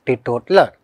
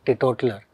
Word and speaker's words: teetotaler: Jo koi madirapan nahi karta hai, that person is called as teetotaler. See the spelling, T-E-E-T-O-T-A-L-L-E-R. Yes, learn the spelling, T-E-E-T-O-T-A-L-L-E-R is teetotaler. Ye pronunciation hai.